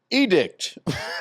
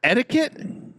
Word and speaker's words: etiquette: to be etiquette huh edict Ural edict what do you mean Is it etiquette cuz you're not even close you're not even in the ballpark etiquette how do you